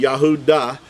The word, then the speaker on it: Yehuda: Yahoo with the dallot it would be yahuda is the how Yehuda was pronounced again Yahweh this is